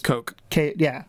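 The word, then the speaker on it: Koch: Coke. I'm assuming like it's Coke. Like the Coke brothers, yeah.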